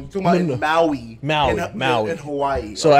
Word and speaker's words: Maui: You said Mao, like Mao Zedong. You talking about Maui?